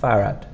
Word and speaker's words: farad: 2R but it's not and the D at the end is quite soft farad farad you can also